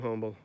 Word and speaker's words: Humble: used to work in humble write-down right people from I will say humble but we're not from humble where we worked in humble I don't know why they never pronounced the H and my sons down